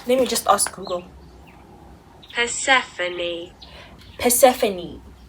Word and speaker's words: Persephone: How do you pronounce that name? Let me just ask Google. Persephone.